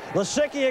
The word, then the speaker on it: Lisicki: three it was close Lisicki again it changes pronunciation to lisicki that's the correct one Penn State wins come